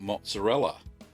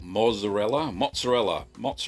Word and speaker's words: mozzarella: And a few that come to mind are ricotta, paneer, and quick mozzarella. Or mozzarella, that's right. I've been told off many times for saying it wrong.